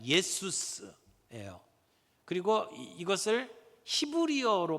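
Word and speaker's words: Ἰησοῦς: 예수라고 하는 이름은 이게 헬라어 발음으로 그대로 발음을 하면 예수스예요.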